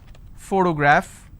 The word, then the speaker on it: photograph: first sound for example if i have the word photograph again i have first sound so just because i have the letter p doesn't mean i can pronounce this as per always all right i also